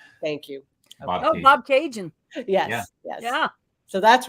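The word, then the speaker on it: Bobcaygeon: mags or Greg's Greg to help with this pronunciation Bob Bob Cajun thank you oh Bob Cajun yes yes yeah so that's where this photo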